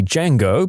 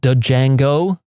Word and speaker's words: Django: ago we started to talk about the movie D Jango because we'd both recently watched it then this random girl next to us says it's pronounced Django we both just looked at her first off